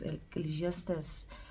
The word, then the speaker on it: Ecclesiastes: able to pronounce it I used to say eate it and I would hear the pastors and people other people you know saying Ecclesiastes and now I've aligned to Ecclesiastes so if you go